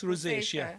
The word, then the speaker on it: rosacea: any treatments or I'm not sure if I'm pronouncing it correctly Rose rosacea yes rosacea yes yes so yeah where is your rosacea